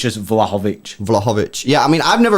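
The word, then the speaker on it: Vlahović: But how do you pronounce that name, bro? Vlahovic. I think it's Vlahovic.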